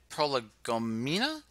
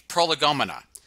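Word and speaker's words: prolegomena: proper pronunciation one second ah i cheated it's prologumana so now i can sound smarter prolagomina all right computational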